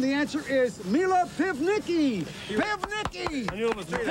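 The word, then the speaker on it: Pivnicki: But the pronunciation. The last name, was Mila Pivniki. My maiden name was Mila Pivniki.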